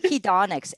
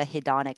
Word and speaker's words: hedonic: something what is that word how do you spell that hedonics h-e-o-n-i hedonic it's like it's a it's a